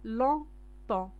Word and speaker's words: longtemps: longtemps جي ما كنطقوهاش بي اس ما كنطقوهمش.